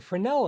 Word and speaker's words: Fresnel: that area okay the fresnel effect and yes the once again french so get rid of that s it defies english pronunciation you will have to